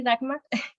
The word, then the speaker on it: Dagmar: Yo estoy en último año, entré en 2017, me llamo Dagmar, se pronuncia así, Dagmar.